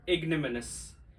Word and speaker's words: ignominious: This is pronounced as ignominious. Ignominious. Its O is silent, that's why I have marked it already.